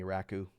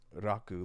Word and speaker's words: Raku: She kept calling me Raku. It's not like a rack. Oh, It's just something you store things on. My name is pronounced Raku, like a like Japanese rock person music.